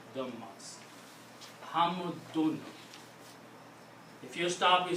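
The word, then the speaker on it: حمد: When you're speaking this word and you don't want to continue, you stop, then only then you will pronounce this hamd. But if there's another word after that and you cannot stop, you have to pronounce hamdun.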